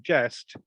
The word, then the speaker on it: geste: And of course, from the word jester, we get the French term geste, which is spelled Geste, and geste it means deed.